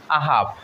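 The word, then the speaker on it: I've: apostrophe V ই তাহলে এটার উচ্চারণ কি আই হ্যাভ এ বলবো নাকি অন্য কিছু হবে এটার উচ্চারণ হবে আহাব আই উইল আই উইল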